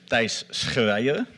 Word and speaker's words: Thijs Schreijer: to pronounce my name my name is pronounces dice Korea he may all try